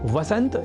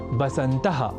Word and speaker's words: वसंत: ऐसे ही वसंत या वसंतः और वसंतर्तुः जैसे शब्दों को बसंतः और बसंतर्तुः लिखना और बोलना भी गलत है।